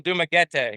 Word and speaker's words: Dumaguete: I'm starting to say I've been saying Dumaguete. Dumaguete. And it's actually Dumaguete.